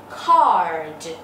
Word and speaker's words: card: Cái từ thiệp á, mọi người phát âm là a hai chấm, card.